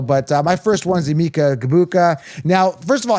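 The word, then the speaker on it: Egbuka: But, uh, my first one's Gabuka. Now, first of all, his name pronunciation because they're calling him Iika Ibuka. They're kind of just ignoring the G. I have a problem with that.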